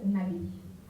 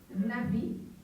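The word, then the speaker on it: נביא: Les musulmans l'appellent Nabi parce que l'arabe est une langue cénétique au même titre que l'hébreu. Et en hébreu, navi nabi donc c'est un b que l'on prononce comme veut, n'est-ce pas ?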